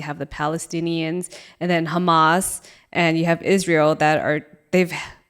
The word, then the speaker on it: Hamas: when the Gaza Strip, which is where the Hamas, how do you say it again? Hamas.